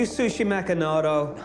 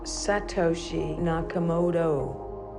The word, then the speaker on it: Satoshi Nakamoto: Are you Satoshi Nakamoto or not? No. Satoshi Nakamoto. Yeah. Are you Sushi Nakamoto? Satoshi Nakamoto.